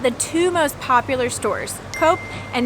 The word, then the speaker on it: Coop: But usually you'll find a Coop and Migros just a few blocks away from